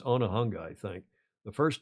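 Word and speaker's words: Onehunga: I pronouncing that right it's not one hunga it's onah hunga I think think the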